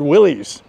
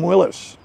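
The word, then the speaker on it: Willys: Willis is spelled W I L L Ys and there is some controversy how you pronounce that. When I was growing up they were called Willies. Some people call them Willis.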